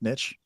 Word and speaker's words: niche: your Niche is and yes it's pronounced Niche okay no matter what